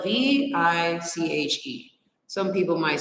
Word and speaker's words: viche: me school y'all okay what is viching it is spelled v-i-c-h-e some people might spell it with a B